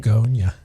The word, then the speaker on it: Bugonia: It's B U G O N I A where Beonia is BE. So, it's Yeah, right. So, I wasn't even sure if I was saying it right. Bugonia.